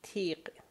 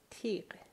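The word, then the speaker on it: تیغ: but kind of connected, like tiq, the word tiq, which means razor or thorn, right? So tiq, that's the sound at the end, tiq.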